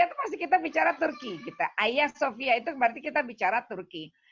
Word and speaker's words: Hagia Sophia: Jadi memang tulisannya Hagia Sophia, tapi kita bacanya Hagia Sophia gitu. Tulisannya Hagia Sophia karena G itu nggak dibaca.